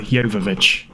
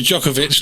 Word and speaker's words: Jovovich: Mila Djokovic. Mila Jovovich. I thought it was Djokovic, like the tennis player.